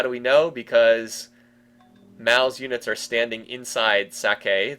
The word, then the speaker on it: Mao: I say Mao. I know it sounds a little bit like Mal, M-A-L. I am not great with Chinese pronunciations, as you might expect.